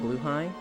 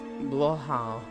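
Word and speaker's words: Blåhaj: That is a 2-minute video for pronunciation. She says something the likes of Blue High. Blue Hatch. It's Blohau.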